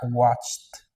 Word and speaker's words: watched: Muy bien, se agrega ed y se pronuncia watched. Watch, al final sonido de t.